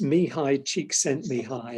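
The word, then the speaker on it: Csikszentmihalyi: you learned how to pronounce it is probably unpronounceable um it's me hi cheek sent me high and i put his name you might have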